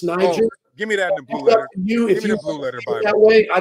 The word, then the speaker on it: Niger: all it wouldn't be pronounced the way you're pronouncing it it's Niger give me that way I don't speak that